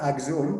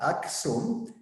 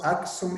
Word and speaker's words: Aksum: The second comment is Professor Rajmal has explained about Aksum, not Axum, but Aksum, because Aksum is a combination of two words.